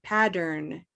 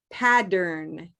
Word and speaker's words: pattern: Get that hard D in there for me. Pattern. Pattern. Say dern. Darn. Addern. Addern. Pattern. Pattern. That's better.